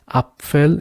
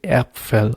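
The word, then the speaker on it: Apfel: a little bit different you don't say upell you say Appel okay then we have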